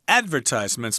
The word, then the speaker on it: advertisements: Some people pronounce this word advertisements or advertisements, but I say advertisements myself with the accent on the first syllable, or just ads here for short.